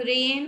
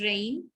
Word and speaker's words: rain: dain, rain, हम rain बोलते हैं, it is not the correct pronunciation, it's rain, ठीक है।